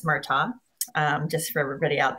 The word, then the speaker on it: Murtaugh: murtagh so um the g is silent so it's murtaugh um just for everybody